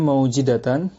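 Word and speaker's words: مَوْجِدَة: Tadi dibacanya maujidatan, jimnya di kasrah sebagaimana penjelasan di kalimat setelahnya. Bi fathil mimi, mimnya di fathah berarti mau ya. Wawunya disukun, wasukunil wawi, wawunya disukun sudah mau. Dan kasril jimi, jimnya di kasrah berarti maujidatan.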